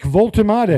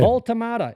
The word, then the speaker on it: Woltemade: How do you pronounce this boy's name? I've not seen a lot of him, Gab. Nick Woltemade. Woltemade.